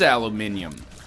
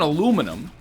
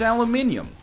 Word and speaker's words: aluminium: There's a sneaky little I in there. It is aluminium. It's not aluminum. It's aluminium.